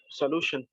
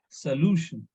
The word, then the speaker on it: solution: It is ending with tin, right? So the syllable before the tin should be stressed. And yes, anyone? Solution. Solution.